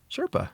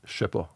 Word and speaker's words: CHERPA: it's so like one is it's spelled CHERPA. Okay. Okay, how would you pronounce that? Sherpa. Sherpa. Yeah. Okay, but in French it's Shepa, Okay.